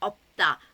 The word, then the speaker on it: 없다: used with words like 없다. 없다 means there's no. So it's used quite often and it's piup siut, so the piup is pronounced. So 없다, 없다.